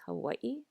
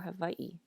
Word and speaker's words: Hawaiʻi: of you are wondering is this letter supposed to be pronounced like an english w or a v is it hawaii or hawaii and the answer is it can be either a lot of it depends on where you're from so even on a